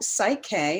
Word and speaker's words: PSYCH-K: site k is okay so psych-k and it's spelled for those who don't know it's p s y c h k so psych as in the psyche and it stands for key to the psyche and the reason it's